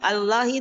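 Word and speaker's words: الله: Oh, jadi patokannya dalam membaca lafaz Allah itu kalau huruf sebelumnya itu berharakat fathah atau damah maka lamnya tebal. Tapi kalau huruf sebelumnya kasrah kayak bismillah ya kan bismillah juga itu lafaz Allah tapi kan kita bacanya enggak bismillah ya tipis ya ustaz enggak tebal. Iya karena huruf sebelumnya kasrah seperti itu.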